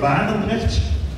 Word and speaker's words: Barendergt: I'm Bart Barendergt. You can call me Bart. I realize that the name Barendergt, it's a very Dutch thing to pronounce, so forget that.